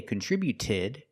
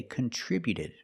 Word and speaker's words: contributed: We see with contributed, the T before the ED is between vowels, so it's a fast D. We don't say contributed, we say contributed.